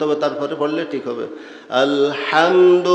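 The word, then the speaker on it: الحمد: তারপরে পড়লে ঠিক হবে আলহামদু মুখ খোলা থাকবে হুপে জবর জবর অবস্থায় মুখ খোলা থাকে দুই টোট ফাকা রাখতে হয় জবর উচ্চারণের কায়দা কি যখন জবরওলা হরফ আসবে জবর হবে হরফ মুখটা খোলা থাকবে দুই টোট ফাকা রাখতে হবে লাগায়া থাকলে মুখ বন্ধ রাখলে জবরের সঠিক উচ্চারণ হবে না আলহামদু আলহামদু লিল্লাহি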